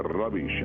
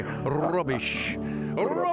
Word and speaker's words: rubbish: to be saying a rubbish I'm moving forward taking control you know and you have to roll your R when you say we have to roll that R2 and you say rubbish that's right uh Dr